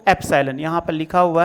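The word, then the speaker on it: epsilon: हम पढ़ने हैं या इस वाली वैल्यू को अप्सायन यहां पर लिखा हुआ है एपीएसआइएलओ एन अप साइलेंट साइलेंट पढ़ा जाता है या इसी को बिलॉन्गस तू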